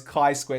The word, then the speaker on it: chi-squared: Because, I should, and I'm like, "Oh, by the way, it's chi-squared." It's like, "Oh, sorry, sir." I'm like, "Oh, no, it's fine." I go, "How the fuck are you meant to know how a Greek letter's pronounced?"